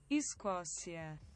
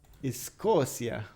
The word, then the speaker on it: Escócia: How do you pronounce in Portuguese Scotland? Escócia. Escócia.